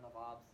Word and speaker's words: Nawab: a local Maharaja, Raja, Nawabs. If you guys seen Aladdin, he goes, I'm on the job, you big Nabob. And Nabob was a mispronunciation of Nawab, which is this term for these Indian princes.